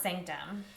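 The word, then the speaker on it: SNCTM: Sanctum, they took out all the vowels. But it's pronounced Sanctum. But it's pronounced Sanctum.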